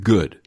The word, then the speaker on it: GUDE: You share an acronym in your book, GUDE, pronounced good.